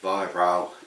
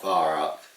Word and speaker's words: Weihrauch: I say that because I don't want to offend people, but trust me, Weihrauch is the correct pronunciation, not Weihrauch.